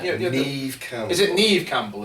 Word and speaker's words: Neve: With Nevi Campbell. I know that's not how you pronounce her first name. Maybe. What's she called? Yeah. Neve Campbell.